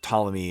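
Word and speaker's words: Ptolemy: And of course, Tommy is pronounced spells with a P pt. I don't know why it just can't be a T.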